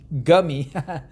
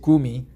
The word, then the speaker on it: Gumi: On the floor of Nongshim's noodle factory in the city of Gumi, Gummy, but actually we pronounce it Gumi.